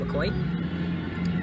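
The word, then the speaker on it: Mokoye: island port of mccoy m-o-k-o-y-e but it's pronounced mccoy to malindi malindi i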